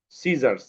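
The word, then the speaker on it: scissors: যেমন সিজার্স, এই যে এস এর পরে সি আছে, এই সিটা সাইলেন্ট হয়ে গেছে।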